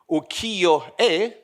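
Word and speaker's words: 浮世絵: Western societies, in this, how do you pronounce it? Ukiyo-e? Great. Good pronunciation. I tried many times.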